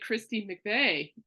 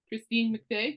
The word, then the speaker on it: Christine McVie: And what I like about Rumors is that the late Christine McVie, she, is that how you pronounce her name? Yeah. Christine McVie, yeah.